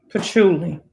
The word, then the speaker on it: patchouli: It's PATCHOUIL. Patchouli. Is it patchouli? Yeah.